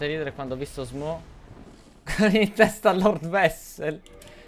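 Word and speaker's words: Smough: Ma è Smo, Smef o Smog? Smo. Sarebbe tipo Smo. In realtà, S-M-O. La pronuncia.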